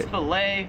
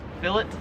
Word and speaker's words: fillet: right way to say fet or it's fet if you're American here in Australia they pronounce it as phet so it is AET